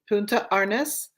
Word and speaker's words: Punta Arenas: Now, say the town again, because I want to pronounce it properly. Punta Arenas, Chile.